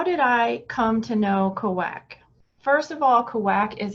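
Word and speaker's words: Cauac: it up and it it's pronounced kawak and it was in fact mayan but in my dream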